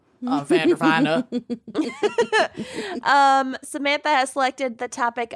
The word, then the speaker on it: Vanderveen: It's pronounced Vandervine. Vandervina.